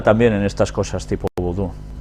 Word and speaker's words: vudú: Se pronuncia vudú y se practica en Haití, de donde vino a Luisiana con el nombre de judú.